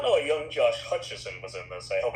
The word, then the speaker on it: Hutcherson: the cast, I did not know a young Josh Hutcherson was in this. I hope I pronounced that name correctly. Josh Hutcherson, yeah, that's correct.